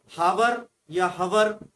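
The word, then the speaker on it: hour: ठीक है, हावर या हवर, ह का साउंड नहीं आता।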